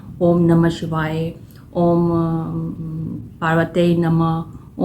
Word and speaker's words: ओम: यह कैसे होता है जो ओम शब्द है ये बहुत ही इंपॉर्टेंट होता है ये छोटा सा वर्ड है लेकिन इसमें क्या होता है यह तीन उच्चारण से मिलक बना होता है जो कि अ उ म ये जो तीन उच्चारण